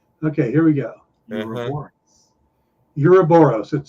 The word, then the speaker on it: Ouroboros: It is Ouroboros. Every other person I've heard has pronounced it Ouroboros.